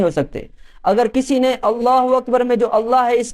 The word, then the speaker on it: اللہ اکبر: ہم اللہ اکبر کہتے ہیں اس کا صحیح تلفظ کرنا، صحیح پروننسیشن، اللہ اکبر، یہ اگر کہیں گے صحیح طرح سے تو